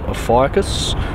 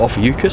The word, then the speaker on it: Ophiuchus: The moon will be against the background of the area called Ophiuchus, or Ophiuchus, some people pronounce it.